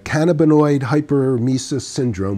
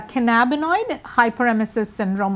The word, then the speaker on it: cannabinoid hyperemesis syndrome: to something called hyperemesis so you mentioned uh cannaboid hyper mesis syndrome which I didn't pronounce even close so say it and then what is it so it's a canabo hyperemesis syndrome or CHS so you can just call it